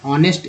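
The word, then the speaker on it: honest: ओ लिखा गया है, एच है कॉन्सोनेंट, लेकिन यहाँ पर ऑनेस्ट उच्चारण हो रहा है, इसलिए एन का प्रयोग किया गया है।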